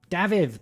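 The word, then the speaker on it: Dafydd: pronun pronun pronunciation David David buddy David it's the Welsh word for David or Welsh name for David so to be clear it's David DAV DAV so David I knew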